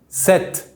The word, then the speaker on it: sept: For the number 7, just imagine the P before the T is not there. It is silent, so we say sept.